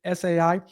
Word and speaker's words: ESAI: I guess the E is silent. I think she pronounces it SAI.